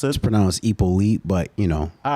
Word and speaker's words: Hyppolite: pronounced this pronoun was ipo elite but you know all right we'll take it we'll take it all right the h is silent that's tough yeah i